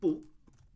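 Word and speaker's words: 不: So we have bu, like this, and typically it'd be spelled with or it'd be written out, or it'd be pronounced with a fourth tone.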